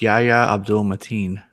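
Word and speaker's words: Yahya Abdul-Mateen: It's Yahya Abdul Mateen.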